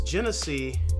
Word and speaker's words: Genesee: Apparently, I didn't pronounce it the right way. It's Genesee Cream Ale.